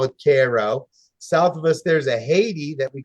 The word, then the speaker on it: Cairo: should be called Cairo uh they call it Cairo south of us there's a Haiti that we